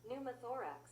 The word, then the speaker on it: pneumothorax: How do you pronounce pneumatics? Numaththorax. Oh, pumathorax. Thank you. Thank you, Google. So, a right pneumothorax, a skull fracture, and a deformed skull.